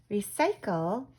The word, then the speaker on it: recycle: don't fill up recycle recycle has a soft C because it's followed by a Y remember the sea has this sound if it's followed by an eye or an ear or why recycle there's a hard sound